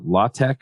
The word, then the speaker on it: LaTeX: you had to install law tech I think is what he calls it it's spelled latex and you have to